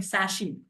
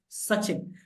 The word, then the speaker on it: Sachin: ढंग से नहीं करेंगे जैसे मेरा नाम सचिन है मेरे जो प्रोफेसर थी फर्स्ट प्रोफेसर शी य to call me सशी एंड I felt offended because उनको नहीं पता